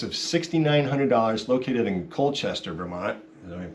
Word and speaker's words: Vermont: It's a 1982 Seafarer 26, list price of $6,900, located in Colchester, Vermont. Is that pronouncing that?